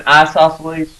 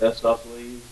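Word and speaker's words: isosceles: an isoceles you might some of you pronounce that isoceles a short eye uh here's the way I remember isoceles you got two eyes right isoceles the same way you have two eyes you have two equal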